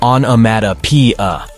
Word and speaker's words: onomatopoeia: The word is pronounced as onomatopoeia.